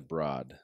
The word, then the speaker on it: Broad: It's spelled Broad. I pronounce it the Broad. Some people pronounce it the Broad or the Broad to split the difference.